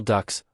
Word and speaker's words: DUKW: Pronounced duck, it was a miracle of adaptation. It was a standard 2 and a half ton truck encased in a watertight hull.